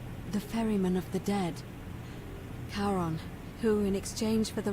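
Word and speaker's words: Charon: it's just as you just said only your pronunciation is a little off the name you heard wasn't karen it was c-h-a-r-o-n as in caron the ferryman of the dead karon who in exchange for the right coin helps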